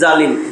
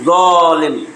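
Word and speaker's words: ظالم: জালিম কোনো শব্দ নাই, আমরা বলি আর কি জালিম, জালিম। ত জ উচ্চারণ কিন্তু জ জবর জ, ত জবর ত।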